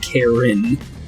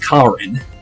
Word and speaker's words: Karin: extraordinary Grace to her interesting way for them to pronounce her name by the way cuz the voices are in English so I'm surprised it's not Karen but it's Karin but um obviously would be Karen in normal English but interesting though kin